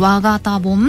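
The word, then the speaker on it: 我谷盆: 自分の我という字に、はい、谷に盆、お盆と書いて、はい、和型盆って読むんですってね。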